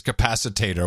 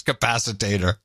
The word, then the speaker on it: capacitor: haze a flux capacitor which she then pronounces capacitator which was even better H right we got that wrong flux capacitor yeah so you just